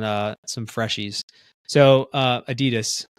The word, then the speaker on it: Adidas: some Freshies so uh Adidas Adidas however you want to say it Adas um I need to say it like that way I feel like it's pretentious in America they'll be like oh yeah it's Adidas um n it I'm